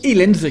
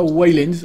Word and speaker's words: Ylands: Alors oui, vous allez me dire, pourquoi est-ce que je dis Aliens et pas Wildlands? Eh bien c'est tout simplement parce que les développeurs m'ont dit que c'était la prononciation correcte du nom de leur jeu.